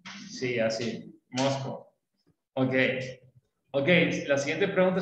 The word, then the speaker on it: Moscow: Como que fuera una mosca, pero masculino. Sí, así, Moscow.